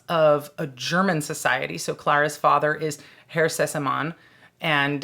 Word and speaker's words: Clara: So Clara's father is Herr Sessemann, and the schoolmarm character is Fräulein Rottenmeier.